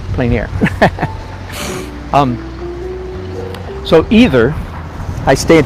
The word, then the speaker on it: plein air: planer this is called plein air painting right french pronounced plein air um so either i